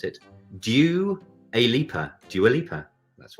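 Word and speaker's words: Dua Lipa: um if you are doing this because joala please write in and tell us how to pronounce it do you a leaper do you a leaper that's right uh well it was a small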